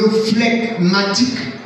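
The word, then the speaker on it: flegmatique: Le phlegmatique ou les phlegmatiques. Amen. Phlegmatique s'écrit F-L-E-G. Matique. M-A-T-I-Q-U-E. Phlegmatique.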